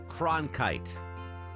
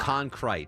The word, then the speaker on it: Cronkite: You're putting the R in the wrong spot. Concrete. You're saying Concrete.